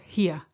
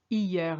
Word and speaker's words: hier: Be careful with the pronunciation of that one. It's not here. It's hier. You ignore the H.